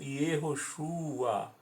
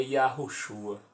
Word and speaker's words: Yahushua: Repetindo, esta é a razão pela qual o nome de Josué está grafado erroneamente como Yehoshua, já que o Ie de Yehoshua provém do Ie de Jeová. Em verdade, o nome de Josué é Yahushua.